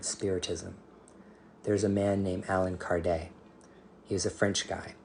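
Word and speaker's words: Allan Kardec: Brazil and so the Alan Card Alan Card his name is Alan Card it's French but people say Alan card because they don't know how to pronounce his name properly that those books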